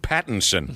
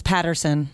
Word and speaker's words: Pattinson: Why are you having trouble with Pattinson? I keep thinking it's Patterson. That's why. Well, you're wrong.